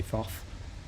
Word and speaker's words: Thoth: And then, Aleister Crowley went even further with the Thoth, or Thoth deck, however you want to pronounce it. I say Thoth. I think they say Thoth.